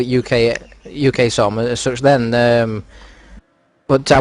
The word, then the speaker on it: UKSOM: listen to the broadcast, you refer to us as UKSOM, and it's actually pronounced UKSOM.